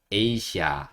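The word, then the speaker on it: Asia: 그냥 이해만 해 주세요 하지만이 단어는 에이시아 이렇게 읽도록 좀 노력해 주시면 좋을 거 같아요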